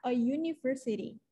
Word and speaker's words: university: Karena walaupun tulisannya pakai U, atau dia itu termasuknya huruf vokal, tapi kan bacanya Y. Which is kalau Y itu konsonan, ya kan? A university. Jadi kita bilangnya bukan an university, tapi a university.